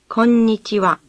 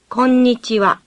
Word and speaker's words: konnichiwa: song mute awesome - when double letters appear in a Japanese word as in konichiwa the sound is repeated think of double letters as having a hyphen between them and pronounce both letters distinctly listen konichiwa konichiwa 3